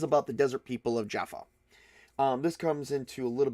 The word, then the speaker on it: Djaffa: I call it Djaffa because it's Djaffa. I imagine the D is silent.